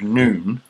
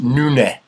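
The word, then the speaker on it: Noone: called Craig noon um it's actually pronounced nun nun in a kind of vaguely scouse um accent or in fact to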